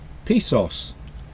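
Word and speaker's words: Pissos: Good morning, it's Saturday morning and we're parked in a place called, I'll say it correctly, Pisos. But if you spell it, it looks a bit dodgy.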